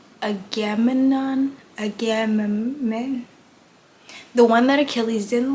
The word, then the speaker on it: Agamemnon: Agamemnon, the one that Achilles didn't like in the